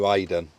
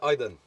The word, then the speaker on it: Iden: comments about calling you Aiden I'm fully aware that that's not actually your name that's it but I just pronounce it wrong it's actually Iden Iden Iden that's it and quite